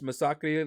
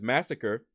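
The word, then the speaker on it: Masacre: that ranked one huh cold why do you pronounce Misaki like that that's because that's how you pronounce his name you didn't think you pronounced his name as massacre because first of all you spelled it wrong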